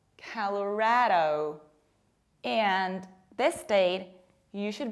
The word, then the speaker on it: Colorado: And this state, it's not pronounced like Colorado, Colorado, Colorado. No, it's color, like a color. Colorado, Colorado.